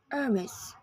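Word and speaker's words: Hermès: heres this French brand is pronounced heres with his first and second syllable whether you're in the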